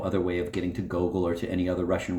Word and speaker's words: Gogol: Gogol, not Gogol. The final L is a soft, dissolving L, which does not exist in English.